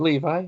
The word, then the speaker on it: Levi: Yeah, he kind of stole the show from Zachary Is it Levi? Is that how you pronounce it? Yeah, that's how I pronounce it. I've heard it pronounced Levy, but I think it is Levi.